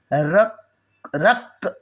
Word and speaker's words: रक्त: साथ संयुक्ताक्षर मतलब कंबाइंड, तो संयुक्ताक्षर में रक्त क का उच्चारण पूरा नहीं करना है, आधा क बोलते हुए उसके बाद वाले अक्षर पर आकर रुकना है।